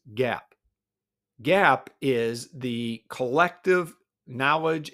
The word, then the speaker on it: GAAP: And financial accounting follows something called generally accepted accounting principles GAP pronounced GAP.